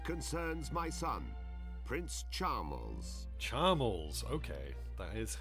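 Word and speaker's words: Charmles: majesty the request concerns my son Prince charmal charmal okay that is how that's pronounced to become king of argonia one must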